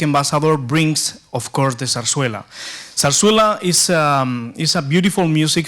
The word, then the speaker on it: zarzuela: But zarzuela in Spanish, because we pronounce with a th, is nothing wrong with my tongue, it's just the right pronunciation.